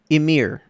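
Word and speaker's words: Ymir: Emir.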